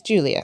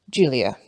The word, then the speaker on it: Giulia: The correct pronunciation is Giulia. Not Giulia, not Giuliana. Giulia. Giulia Tofana.